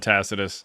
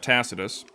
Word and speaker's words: Tacitus: wrote down if you have ever read Tacitus.